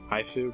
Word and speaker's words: Haifu: Colonel Haifu. Oh, if it's a girl, I want to fucking play with that word so much. Haifu rhymes with waifu.